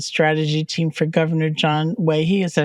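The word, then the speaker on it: Waiheʻe: the policy and strategy team for Governor John Waihe. Is that how you pronounce that? Well, his name is actually pronounced Waihe.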